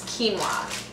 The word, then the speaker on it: quinoa: one of my favorite whole grains, which is quinoa. It's spelled Q-I-N-O-A.